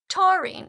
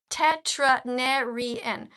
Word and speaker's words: taurine: It's only two syllables. Taurine. Can you read this to my brother? It has taurine in it and you can Google it. All right? So, I'm sorry that you don't know how to read, but somehow you seem to think that that's my fault. You said tetranarian. You said a word with five syllables and the word is taurine. It has two syllables.